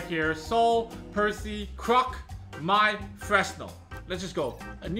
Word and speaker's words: Croque: Croak. That's right, that's how it's pronounced.